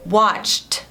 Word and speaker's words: watched: Então, você colocaria o ED no final, mas você falaria som de T. Então, seria watched.